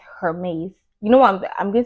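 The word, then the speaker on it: Hermès: really it's giving her her maze if you hear French people pronouncing this Hermes you know what I'm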